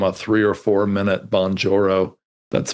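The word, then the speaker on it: Bonjoro: and give them a three or four minute bonjourro that's spelled B O N J O R O.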